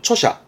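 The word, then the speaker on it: 著者: 발음은 초샤.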